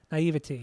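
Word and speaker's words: naïveté: How do you say naivete? Like naive, but naivety, yeah, like that.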